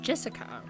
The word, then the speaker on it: Jessica: the same kind of weird name anyway it's pronounced Jessica she's dad's older brother's daughter that older brother